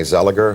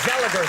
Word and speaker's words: Zellweger: this magnificent actress today on the rounds, Renee Zellweger, who's coming out in Bridget Jones, the second movie, and. Yeah, please. I think you called her Zellweger, though. Well, I think it's Zellweger.